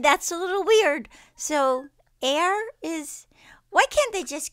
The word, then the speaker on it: Aire: name has been revealed it is air pronounced air like billionaires hmm well I think